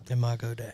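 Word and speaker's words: Imago Dei: can constantly forgive you Imago DIA is that how you pronounce it yeah yeah yeah Imago day yeah that's what yeah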